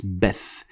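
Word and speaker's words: بث: Beth, of course, is going to look like bath when you try to write it in English, but it is not bath, it's Beth.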